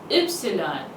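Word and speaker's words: Ypsilon: used to in English it is called Epsilon ipsilon Epsilon if it comes in the start of any word it makes the year sound but if it comes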